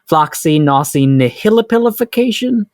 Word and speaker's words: Floccinaucinihilipilification: Floccinaucinihilipilification. It can be pronounced a million ways. There's really no right way to say it. The British pronounce it Floccinaucinihilipilification, but I like the way that I said it.